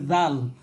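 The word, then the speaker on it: ذ: এরপরে রাল, রাল এটা উচ্চারিত হবে ওই সায়ের মতো, সা যেভাবে উচ্চারিত হয়েছে সামনের দুই দাঁতের সাথে লাগিয়ে জিহ্বার আগাল সেটা সেভাবে রাল।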